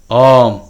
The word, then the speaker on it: Om: So this basic sound which formed all creations, Om, has 3 syllables: A, U and Im.